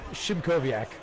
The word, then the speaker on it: Shimkoviak: That's the one, Shimkoviak. Shimkoviak, it's not. right. It's not like it's spelled at all.